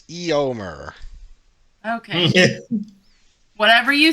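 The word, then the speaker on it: Éomer: pronounce Aomer. Nope, it's Eomer.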